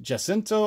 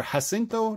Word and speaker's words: Jacinto: This is by Kim Jacinto or Jacinto, depending on how you pronounce it, J-A-C-I-N-T-O.